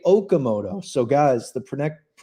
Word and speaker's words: Okamoto: and the rest say Okamoto. So guys, the correct pronunciation of Kazuma Okamoto.